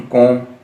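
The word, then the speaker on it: comb: तो उसने कहा था कि टू कॉम his hair, M के बाद जब भी बी लगेगी बी साइलेंट हो जाएगा, तो कॉम हेयर यानी कि बालों को कंघी कर ले ताकि प्रेजेंटेबल दिखाई दे।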